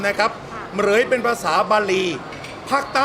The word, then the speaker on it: เหมรฺย: จะ ยาว เกิน ไป ก็ ชื่อ เหรย เหรย ตัว พินทุ ตัว รอ เรือ สลุ พิธุ ไม่ ออก เสียง เป็น ออก เสียง ตัว ควบ กล้ำ นะ ครับ เหรย เป็น ภาษา บาลี ภาค